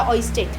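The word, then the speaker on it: Ørsted: ऑइस्टेट आर I think silent है।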